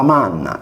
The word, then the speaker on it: magna: successiva N, per cui magna o macna era pronunciata manna e cinius o cucnus, cunnu, come in sardo.